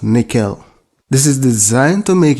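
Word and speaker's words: N1QL: The last one I'll be talking about is NoSQL, pronounced nickel.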